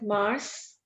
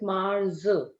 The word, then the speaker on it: mars: jean bear favorite mars we don't call it mars we call it mars red sound in the end mars then our brain